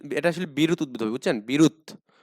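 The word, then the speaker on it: বিরুৎ: আসলে বিরুত উদ্দবে বুঝছেন বিরুত উচ্চারণটা হবে কি বিরুত ঠিক আছে তো বিরুত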